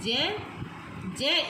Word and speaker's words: ज्ञ: वैसे अधिकतर विद्यार्थी जो है इसका उच्चारण ज्ञ के रूप में करते हैं, तो ये बिल्कुल ही गलत है। ये है ज्ञ इसलिए कह रही हूँ बेटे क्योंकि यहाँ पर अगर हम इसके टुकड़े करके देखते हैं तो देखिए क्या बनते हैं। ज, योग चिन्ह य और 1 स्वर, इसीलिए इसका उच्चारण बना ज, ना कि ग। तो ग नहीं बोलना, ज।